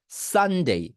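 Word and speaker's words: Sunday: এই যে সান, এই সান যে শব্দটা আছে, এইটাকে পাতলা করতে হয়, অনেক পাতলা ভাবে, সান, মানে যতটা পাতলা করে এই সান শব্দটা উচ্চারণ করা পসিবল হয়।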